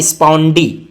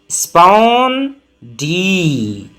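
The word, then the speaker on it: spondee: ये है स्पॉन डी। इसका प्रोनंसिएशन भी वही है। पढ़ना भी आपको सेम है। कैसे पढ़ेंगे? लंबा पढ़ेंगे। स्पॉन डी स्पॉन डी स्पॉन डी 10 से 20 बार आप इसको पढ़ लीजिए।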